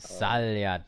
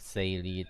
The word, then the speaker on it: Salyat: Salyat. Okay, okay. I was always saying like Saylit or something because that, okay. Salyat.